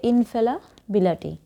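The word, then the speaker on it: infallibility: দেখো, ফেলিবিলিটি মূলত বানানটা হচ্ছে ফেলিবিলিটি, কিন্তু ফেলাবিলিটি মানে উচ্চারণ হবে ইনফেলাবিলিটি।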